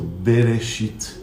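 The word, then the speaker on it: בראשית: Por exemplo, na primeira palavra do Gênesis, está escrito Bereshit. Bereshit é no início. A letra Aleph está no meio e ela não é pronunciada.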